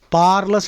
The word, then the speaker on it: parlous: Parlous ante kuda risky. R is silent. PARLOUS.